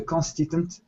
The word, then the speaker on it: consistent: The organizations need to develop a consistent way of initiating and implementing change. Okay, very good. So, just some vocabulary, just some pronunciation. Yeah. Consistent with that s sound.